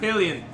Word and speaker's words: Hylian: I'm gonna bust my Hylian shield up your ass. I thought you were gonna say, Hylian yeah, I'm one a more bust time. and nut. Huh? Just say Hylian one more time. Hylian.